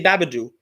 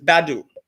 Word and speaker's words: Badou: me say his name i say his name wrong because i say babadoo because i missed it when i wrote it but it's badou wait until you have